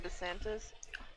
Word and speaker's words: DeSantis: Ron DeSantis Oh, that's how you pronounce it.